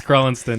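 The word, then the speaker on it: Crelinsten: him how to pronounce his name? Because What evidently you got that wrong again. It's Krellenston.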